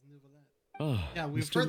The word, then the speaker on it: Nouvelet: Oh, Monsieur Nervillet. What an honor it is to have you here to see my show. That's an odd way to pronounce it. It's Nouvelet.